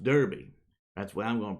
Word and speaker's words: Derbe: Derbe was pronounced Derby.